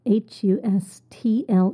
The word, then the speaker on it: hustle: offended nature number 13 hustle hustle spelled h u s tle e but we do not pronounce the T hustle this is a